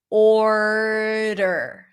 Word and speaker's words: order: Order. Flap D. That sounds like a flap T. And then you pull it in back to the R.